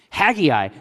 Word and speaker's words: Haggai: The AI are pronounced independently? Haggai. Thank you so much.